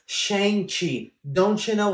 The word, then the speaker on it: Shang-Chi: Man, that Shang-Chi movie looks awesome. I can't wait to... Idiot! Stop What? saying the Shang-Chi. It's Shang-Chi.